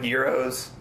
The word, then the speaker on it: gyros: People say Euro or gyro. Oh, I say Euro. Yeah. Some people say gyro. That's how it's pronounced. Yeah. Is this Euro? It is Euro.